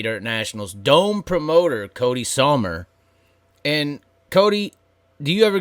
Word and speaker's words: Sommer: I get Sommer. I get Somner. I get different versions. Most people don't read my last name and think it's pronounced like the season, but it is.